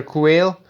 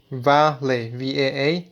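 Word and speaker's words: quale: A typical such puzzle is that of Qualia, Qualia, singular quail, which rhymes with Vale, Vaa-lay, meaning the subjective aspect of sensations.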